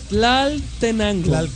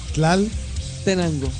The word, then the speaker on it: Tlaltenango: Mira, escucha. Tlaltenango. Tlaltenango. Sí, lo dije bien. Pronuncia tlal. Tlal. Tenango. Tenango. Tlaltenango. Ahí está.